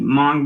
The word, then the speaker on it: Hmong: days after going up the mountain to the hmong village is how you pronounce that uh ross says chris for three